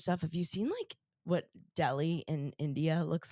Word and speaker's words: Delhi: Speaking of crazy climate change stuff, have you seen what Delhi in India looks like these days?